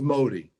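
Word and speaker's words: Mahdi: looking for whose name by the way is Modi m a HD M ahdi when you Google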